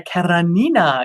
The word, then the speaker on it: Karenina: is back with anna karenina um or as they i always say it anna carranina because there used to be this this play that took place in cuba and that's how they pronounced it anyway um we have